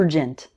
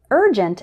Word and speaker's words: urgent: number of students involves words like urgent which they might pronounced with the strong use sound like more urgent but urgent and urban actually start with more of an and like in bird or early repeat after me